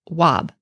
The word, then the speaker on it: wab: used well this was used for the sounds w9b in modern times we pronounce this wob so this was used